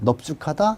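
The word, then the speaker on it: 넓죽하다: 자, 이 넙은 딱 세 개밖에 없어요. 넙죽하다, 넙적하다, 넙둥글다. 요거 세 개만 비읍으로 발음합니다.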